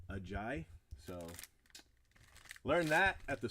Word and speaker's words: Ajayi: I did learn that I have been pronouncing Ajayi's name wrong. It is actually Jay Ajayi.